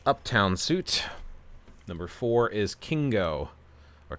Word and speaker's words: Kingo: suit number four is Kingo or Ken goal if you want to pronounce it like Japanese Marvel Studios eternals and